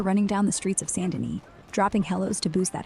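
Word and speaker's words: Saint Denis: goop mister yeah it's Sandin not Staint Dennis got that fancy French vibe right for chapter 6 you're out there running down the streets of Sandin dropping hellos to boost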